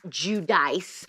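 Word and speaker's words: Giudice: star theresa judy che i've always said judiciae by the way even though some of you pronounce it jude dice has gotten a nose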